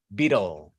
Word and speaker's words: beetle: Y ya recuerden que acá también hay una pequeña vocal entre la T y la L. Ahí hay una pequeña vocal porque antes de toda L en inglés hay una pequeña vocal. ¿Listo? Ténganlo en cuenta. Vida, vida, vida, beetle. Beetle. Esa T suena como de entre vocales. Efectivamente, hay una vocal después de la T.